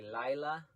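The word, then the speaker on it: לילה: 28 22 and night can pronounce a couple different ways usually in modern times we say Lila like Lila Tove I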